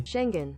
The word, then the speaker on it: Schengen: Yes, I finally figured out how to pronounce that correctly. Schengen.